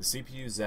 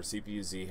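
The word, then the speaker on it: CPU-Z: you're going to want CPU Z or CPU Z however you want to pronounce it um people over the over the pond in England and whatnot they'll call it superu Z so um in the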